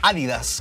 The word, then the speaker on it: Adidas: adivina de qué marca, de Adidas, o de Adidas, como parece que se pronuncia correctamente, ayudando a popularizar el calzado especializado para correr.